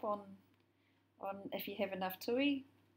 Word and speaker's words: tui: And I guess you can sew yourself up on if you have enough tui. But the correct pronunciation is tui.